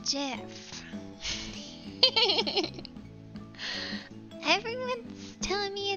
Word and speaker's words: GIF: in yes i say jiff i'm sorry it's pronounced jiff everyone's telling me it's